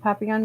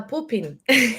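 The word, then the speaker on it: Pupin: Um can you describe or tell us anything about Papon yet? I can't say it right. P U B I N. Oh uh poopin.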